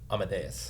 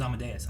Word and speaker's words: Amadeus: Amadeus.